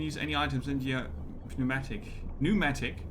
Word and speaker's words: pneumatic: any items in your pneumatic pneumatic is it p pneumatic or is it just pneumatic we learn we learn how to pronounce that now do that pneumatic probably pneumatic pneumatic yeah the p silent pneumatic pneumatic pneumatics as